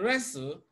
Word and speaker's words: wrestle: mortgage T is silent in D we have wrestle restle even though we have t in wrestle T is silent it's not restle it is restle wrestle it's just as you have in listen it's not